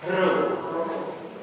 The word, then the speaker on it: rho: pada kata puasa kemudian setelah Pi itu rho kamu perhatikan huruf besarnya itu Mirip huruf P tapi itu Bukan p itu R jadi di di huruf kita itu huruf P tapi di huruf Yunani itu huruf r ya ro ro seperti pada kata Rama jadi perhatikan dari NU